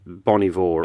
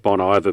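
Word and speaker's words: Bon Iver: Fire from Canada and Bonnie Vore or bon bon we call it Bon IA but I think the band likes to be referred to as Bonnie Vore oh bon bon H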